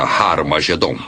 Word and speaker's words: Har Magedon: E realmente em algumas das antigas versões do Novo Testamento, escritas em grego, Armagedon tem o som aspirado no início, que significa que era pronunciada com H. Originalmente era Har Magedon, e é muito fácil passar de Har Megido para Har Magedon.